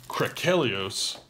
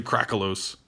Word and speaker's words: Krakelios: But now, the other main event is Krakelios. Krakelios. I think that's how you say it. I've been seeing other people say Krakelos. Krakelos, I don't like that. Krakelios sounds epic and awesome. Like the Kraken.